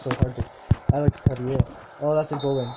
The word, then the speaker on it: Teixeira: Alex Teixeira, I believe that's how you pronounce the name.